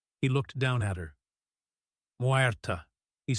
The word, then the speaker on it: Muerta: Muerta, she said finally. My name is Muerta. She accented the syllables evenly. Muerta, he repeated. Muerta. He rolled the ER slightly, as she had done.